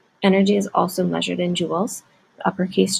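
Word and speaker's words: joules: force to move an object it's measured in Jewels um that's how this word is pronounced it's abbreviated with an uppercase j the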